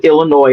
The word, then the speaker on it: Illinois: I'm just making sure that the outliers understand that the S on Illinois is silent.